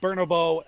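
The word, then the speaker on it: Bernabéu: that being Real Madrid's Santiago Bernabeu Stadium as well. And yes, I did pronounce that correctly because I watched the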